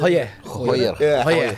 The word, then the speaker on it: Gooijer: Pertama info soal Tristan Goyer, benar ya gue bacanya? Goyer. Tadi itu. Hoyer. Hoyer. Ada kumurnya dikit gitu.